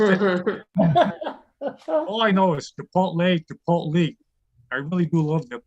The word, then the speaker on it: Chipotle: And my son always corrects me, said, Dad, it's pronounced Chipotle. I said, great, this kid got a 40 on the Spanish regions. He's telling me how to correct it. All I know is Chipotle.